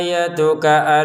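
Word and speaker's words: آيَتُكَ: Qala ayatuka alla tukallimanas. Nah, di sini qof dua harakat panjang, lamnya pendek. Qola a-nya panjang ya tanya kafnya pendek. Jadi qola ayatuka kafnya langsung ke hamzah ya.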